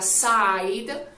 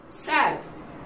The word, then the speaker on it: said: del verbo ser decir la pronunciación correcta de esta palabra no sería side tampoco sería se ha ido simplemente sería salto sí mucho más fácil de